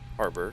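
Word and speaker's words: HAROB: I know it says Hey Rob, but the folks up in Seattle tell me it's actually pronounced harbor, so that'll going to lead us right back into the ILS 16 center.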